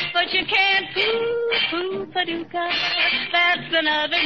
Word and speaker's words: Paducah: you wanna, you can rhyme it with bazooka. But you can't poo poo paducah. That's another name for paradise. Paducah, paducah.